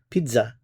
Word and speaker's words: pizza: Notice the pronunciation of pizza in French, pizza, pizza.